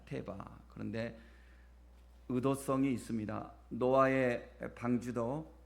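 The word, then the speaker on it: תֵּבָה: 우리가 갈대 상자인데 이 갈대 상자를 히브리어로 보면 테바 이렇게 발음을 합니다. 테바.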